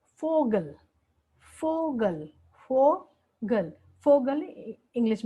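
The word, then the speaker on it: Vogel: होता है फाउ, और इसका जो प्रोनाउंसिएशन होता है वो होता है एफ, एफ प्रोनाउंसिएशन होता है। और इसको हिंदी में अगर हम उच्चारण देखें तो फा, फा। और इसका एग्जाम्पल जो है फोगल, फोगल, फोगल, फोगल इंग्लिश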